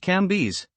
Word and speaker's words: Cambis: There were in Madame Dei's salon some very venerable old noble women whose names were Mathan, no, Levas, pronounced Levi, and Cambis, pronounced Cambes.